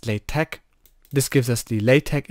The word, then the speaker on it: LaTeX: however you want to pronounce it but it's pronounced Playtech this gives us the latex expression so you